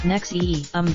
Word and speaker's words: NXIVM: Ronnie heir 58 co-founded in zve and pronounced nexium based in a suburban